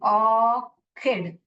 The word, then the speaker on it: orchid: चिड करके पढ़ते हैं अगर आप इसको च करके पढ़ते हैं तो ये गलत है इसको क पढ़ना चाहिए ऑर्किड क क ऑर्किड पढ़ना